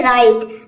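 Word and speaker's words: right: का हो जाएगा आई, क्योंकि आई के बाद GHT आया है और इसमें GH जो है ये साइलेंट है, इसको हम प्रोनाउंस नहीं करेंगे।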